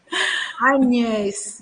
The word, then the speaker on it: Agnès: Eu vou pronunciar seu nome como é em francês. Hoje eu vou. Hoje eu não resisto. Agnès, diga que não é lindo. Não bota esse G, N, entendeu?